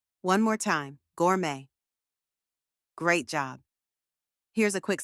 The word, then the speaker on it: gourmet: like and gorgeous and the second part is May just like the month of May now say it with me Gourmet one more time Gourmet great job here's a